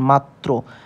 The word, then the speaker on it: মাত্র: র ফালা যদি শব্দের শেষের সাথে বসে যেমন মাত্র এখানে তার মানে এই যে ত আমরা এখানে